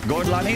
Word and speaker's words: Gorlami: Buongiorno, Gorlami, Arrivederci. What is that name again? How do you pronounce it? Gorlami. Gorlami, am I saying that correctly? Si, perfecto.